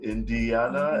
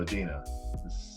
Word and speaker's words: Adina: She, her name's Adina, but like everybody that sees it, because it's spelled with an I, they're like, Indiana. And I'm like, no, Adina.